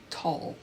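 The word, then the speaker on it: Tolle: name up this morning how do you pronounce his last name because I always think I say it wrong and I've learned it's tall and he said that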